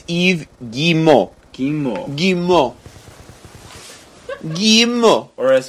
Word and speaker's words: Yves Guillemot: It's Yves Guillemot.